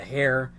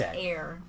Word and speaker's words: heir: business he's an air Heir what did I just say hair I mean it does start with an H but it's pronounced air gotcha okay that's a